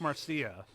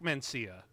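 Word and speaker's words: Mancina: No one talks about the score, and the guy who did it, Mark Marcia, deserves a lot more credit for this. Or Mark Mencia, excuse me. Sorry, butchered that.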